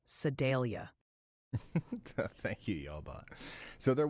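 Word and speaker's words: Sedalia: Also, the Sidelia fan club wanted me to tell you it's pronounced more like Sadelia.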